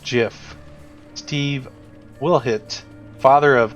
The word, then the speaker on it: GIF: pronunciation father of gift it's pronounced jiff Steve will hit father